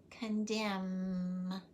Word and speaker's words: condemn: Did you hear silent N in autumn, column, condemn? The N is silent.